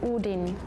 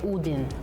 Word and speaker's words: Odin: In Swedish we say udin. In Norwegian we say udin.